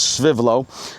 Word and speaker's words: Svivlo: Svivlo itself, and that's how you pronounce it, I did check, it is Svivlo, but they are located in Sweden.